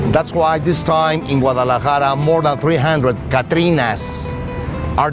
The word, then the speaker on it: Guadalajara: Guadalajara, pronounced Guadalajara, is Mexico's second largest city.